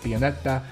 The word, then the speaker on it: Pianetta: And I can say his name like Pianetta because he's Italian and my ancestry is Italian.